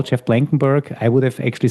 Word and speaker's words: Blankenburg: Uh, yeah, Blankenberg is generally the way I pronounce it.